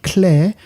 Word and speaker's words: Kler: It's called Clare. That's spelled Kler, and it means clergy in Polish.